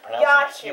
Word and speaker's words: Jaciw: This week I have with me Jack. Okay, wait a minute. Just hold on a second there. It's Jaciw. You pronounce it J as a Y. It's a Ukrainian name.